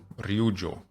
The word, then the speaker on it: Ryujo: Thanks for teaching me how to pronounce this. I think I got it right this time. Ryujo.